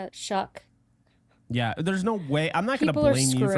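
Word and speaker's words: Shough: pronounce it right Shuck.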